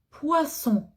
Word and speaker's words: poisson: Par exemple, le poisson. Pour manger le poisson. C'est vrai, poisson, il y a deux voyelles de chaque côté. Mais il y a double S. Et double S, je prononce toujours ce.